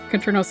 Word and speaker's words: Kranos: Um, so uh, as mentioned uh, we have Kronos here. Sometimes I call Kranos. It's a little bit kind of contentious between the devs, but Kranos is probably the closest pronunciation we're going to want to go through here.